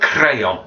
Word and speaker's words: crayon: before I'm prayin and crayon again roll the R for the sound next if we make